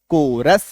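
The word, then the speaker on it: chorus: जब किसी शब्द में CH के बाद ओ आर आ जाए means CH + OR = to also क इक्व टू आल्सो क तो जैसे CH ओ आर कोरस सी H plus O आर सी एच ओ आर L coral CH + ओ आर ई ओ जी आर ए पी एच Y choreography C H choreography C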